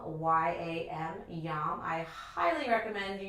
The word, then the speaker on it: yam: We will be incorporating a Sanskrit syllable that tunes the heart, which is yam, Y-A-M, yam.